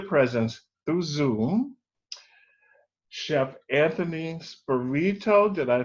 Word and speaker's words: Spirito: Today, I have a pleasure to be once again in the presence through Zoom, Chef Anthony Spirito. Did I pronounce it right?